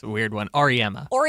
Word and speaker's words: Auriemma: Auriemma.